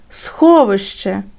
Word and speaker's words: сховище: наголос перше слово сховище поділимо його на склади схо ви ще промовили це слово вголос сховище то на який склад падає наголос перший другий чи третій сховище на перший над звуком о поставимо